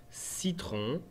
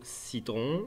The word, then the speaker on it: citron: Donc si après notre C, on a un E, un I ou un Y, c'est obligatoirement un C doux et le son se prononce S.